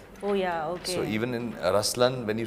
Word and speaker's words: Ruslaan: yeah so even in raslan when you say raslan also means the lion it's the attitude of but the right pronunciation is rlan okay there is so